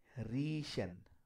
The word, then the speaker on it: riechen: But when they appear this way, IE, as in me, see, same sound of I, we will be pronouncing. For example, riechen.